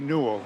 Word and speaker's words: Newell: How do I pronounce that? Eddie Newell, Newell, Newell.